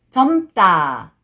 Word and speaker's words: 젊다: But when you read it together, 젊다, 젊다. 잘했어요, 여러분.